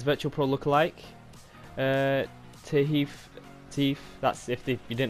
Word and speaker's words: Tahith: gonna be his virtual pro look alike uh tahif thief that's if you didn't know what to spell that's his first name and chung the alpha